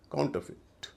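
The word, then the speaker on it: counterfeit: यहां भी इ आई का उच्चारण छोटी इ होगा। काउंटरफिट मतलब होता है नकली या फर्जी।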